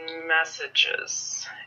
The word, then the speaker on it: messages: so for example um the word is messages and students might want to say message or message and both the the the incorrect pronunciation is due to not giving um not attributing enough syllables to the word or um doing incorrect stress so just by using